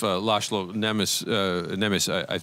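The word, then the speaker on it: László Nemes: seen, and I too would be stunned if Laszlo Nemes, I'm probably murdering the pronunciation.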